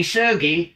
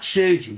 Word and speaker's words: Sugi: And it is with a hard G. It was Kenichi Sugi, not Suji. So it's not Sugilite.